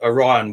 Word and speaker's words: Orion: Not like some of the Americans say it really strangely. Is I it heard them say Orion? Orion, like they say Oreo.